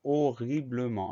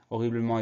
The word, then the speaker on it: horriblement: Le H muet, les deux R. Ensuite, la suite, ça va à peu près. Bleu, B-L-E. Dernière syllabe, ment, M-E-N-T. Donc, le son en s'écrit E-N et il y a un T final muet.